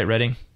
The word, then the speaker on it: Reading: Dyson was now lecturer in English literature at Reading University. Did I say that right, Reading? Yes. Yep. And he paid... Although I will point out, it's Magdalen. It's spelt Magdalen, but it's pronounced Magdalen College.